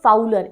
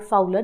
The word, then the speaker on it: Fowler: 3 main character, एक है फाउलर, FOWLER फाउलर, ये एक राइटर है।